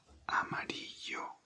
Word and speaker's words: amarillo: In Spanish, yellow is amarillo, amarillo, amarillo, amarillo, amarillo. A-M-A-R-I-L-L-O. Amarillo, amarillo. In Spanish, if there is a double L, you pronounce it like Y instead of like a normal L.